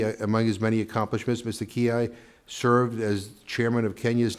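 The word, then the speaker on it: Mina Kiai: And our first panelist is Mina Kia. And am I I'm pronouncing that am I proning correctly? Ki. Ki. Okay.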